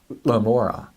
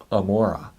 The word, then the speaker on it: Gomorrah: look at the Hebrew, there is no gimel at the front. Rather, it is an ayin. So it originally would have been pronounced Amora, Amora. And so you can hear how that would get changed into a G if it's heard by speakers who don't have the glottal stop. And so we spell it Gomorrah, but it's actually Amora.